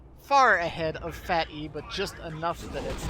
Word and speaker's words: PhatE: e doesn't react quickly I always want to call him fate but he's told me his name is fat e that e is capitalized for a reason darn it so say it right ready shuriken get in